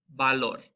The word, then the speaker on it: valor: Our V, there's no difference between the English B and the English V sound in Spanish. So it sounds just like a B, basically. So we have words like valor, bella. So you can hear it just sounds just like the B in boy.